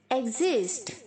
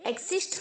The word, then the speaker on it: exist: ई के आगे जो एक्स है उसे आप जी की तरह प्रोनाउंस करेंगे, एग, और जो IST है उसे Z की तरह बोलेंगे, एग्जिस्ट, एग्जिस्ट, ओके। एक्सिस्ट नहीं बोलना है, एग्जिस्ट, ओके।